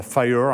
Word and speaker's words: FHIR: ce format qui s'appelle FHIR. Alors, on prononce ça Fire en américain, c'est pour ça qu'il y a la petite flamme, etc.